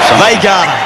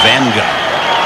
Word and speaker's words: Vagana: How do you pronounce his name, being a native of the country, Gary? Vagana. Somebody said it's Vanga.